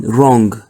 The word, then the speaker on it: wrong: h i and then wrong wrong you see the W is silent the B sorry the